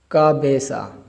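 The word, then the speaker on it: cabeza: का बेसा, का सी और ए जब मिलेंगे का, और बी और ई जब मिलेंगे बे, का बे। और जेड और ए सा, का बेसा हेड सर।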